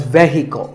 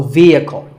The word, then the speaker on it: vehicle: word is vehicle it's often pronounced wrongly as vehicle but the e is a long vowel and the h is silent so vehicle number eight is this